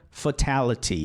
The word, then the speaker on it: fatality: Ou o T, né? Como aqui na palavra fatality ou fatality. Um T a gente muda, que é o último. O primeiro T a gente não muda, porque é ali que está a sílaba forte.